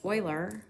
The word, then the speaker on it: Euler: in steepness between them and yes that is pronounced euler it is not pronounced euler it does not rhyme with ferrous bueller although